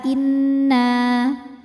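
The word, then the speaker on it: إِنَّ: Jadi kita tahan bunyi n-nya kurang lebih 2 harokat.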